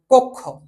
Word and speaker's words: কক্ষ: তো যেমন আমরা যদি আমরা বলি যেমন কক্ষ, যেমন এটা আমরা বলতে পারি যেমন কক্ষ, যেমন কক্ষ বানান যখন আমরা লিখবো তখন কিন্তু কক্ষ বানানটা কিন্তু এইভাবে দেওয়া থাকে, কিন্তু উচ্চারণের সময় কিন্তু আমরা কয় ওকার ক তারপরে ক্ষয় ওকার উচ্চারণ করি, এই জিনিসটা কিন্তু আমাদেরকে উচ্চারণ করতে হয়।